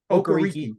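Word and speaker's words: Okereke: they've addressed that with Bobby okareke which I think is the right way to say it ohgariki that's better okariki okay um um or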